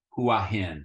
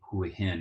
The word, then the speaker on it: Hua Hin: see these letters h-u-a-h-i-n you're naturally going to say Hui hin now this is also a very lazy way to say Houlihan when you're having a